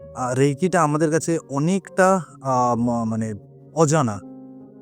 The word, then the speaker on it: Reiki: এখানে একটা কথা প্রথমেই আমি বলে রাখতে চাইছি যে রেইকি কথাটা শব্দ উচ্চারণটা কিন্তু দুটো একটা ব্যাপার আছে। যেটা একটা আরই আই কে আই রেইকি যেটা বলছি এটা কিন্তু ইংলিশ ওয়ার্ড না। এটা জাপানিজ ওয়ার্ড।